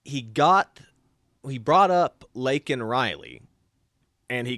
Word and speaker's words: Laken: got he brought up lakan Riley and he called her he got her name wrong he called her Lincoln Riley so that's the first